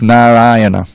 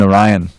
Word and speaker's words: Narayana: mean i mean uh literally it's narayana it's not even orion everyone says orion but it's actually narayana is the proper pronunciation but that but these